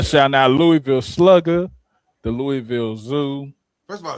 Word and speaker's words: Louisville: I'm gonna shout out the whole city of Louisville.